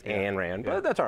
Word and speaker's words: Ayn Rand: Let's start with her name, because a lot of people mispronounce Ayn, and it's always Ayn Rand, but that's all right.